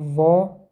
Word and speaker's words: ظ: Здесь "Za" с фатахой читается как "Za" с касрой и с даммой. Вот три буквы, соединенные вместе: Цзы. Не следует забывать, что эта буква является одной из ударных, поэтому с фатой она читается как «За». Чаще всего встречается звук "о", "За". Не «за», а «За».